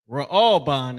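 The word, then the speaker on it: ראובן: Ra'alban. Ra'alban is how you pronounce that in Hebrew.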